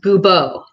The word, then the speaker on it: Goubeau: It is French and the D is silent and it's Oh, pronounced Goubeau.